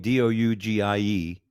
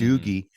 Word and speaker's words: Dougie: I don't know how anybody can look at my name, Dougie, and pronounce it Mhm. Doogie.